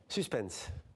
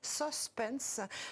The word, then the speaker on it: suspense: les anciens en France il y en a plus rarement qui disent suspense comme en anglais ça fait au moins